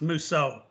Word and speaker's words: Mousseau: So it's a French pronunciation, so it's pronounced Mousseau. Like I Clouseau. try to explain it to people like Clouseau in the Pink Panther.